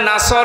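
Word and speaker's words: نصر: তখন বিজয় দেখতে পাবেন যদি মুখটা গোল না করে সিন দিয়ে উচ্চারণ করেন অর্থ হয়ে যাচ্ছে হে নবী যখন শকুন আসবে এগল পাখি আসবে তখন আপনি বিজ জয় পাবেন হয়েছে।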